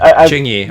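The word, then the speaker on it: Qingyi: Ching-Yi, okay, that's how you say it.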